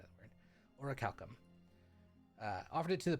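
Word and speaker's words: orichalcum: of uh something called oraculum or oricalcum that's the appropriate pronunciation of the word orac Calcom uh offered it to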